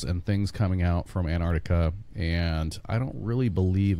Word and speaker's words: Antarctica: We got to pronounce that correctly. Antarctica. You got to get the good C like in there. Like Anticope. Antarctica. Arctica. Yes, it's not Antarctica. You got, there's a C in there, so you got to... Right. Accent on the right syllables.